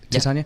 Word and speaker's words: Titania: I wanted to ask you about Titania McGrath. Mm-hmm. Did I pronounce it right? Titania?